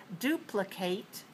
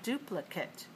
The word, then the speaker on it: duplicate: gradu all right so the noun is the it ending the verb is the eight ending we have many verbs